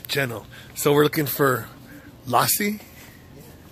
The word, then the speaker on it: lassi: So we're looking for Lassie. Yeah. Is that how you pronounce it? Lassie, yeah. Lassie.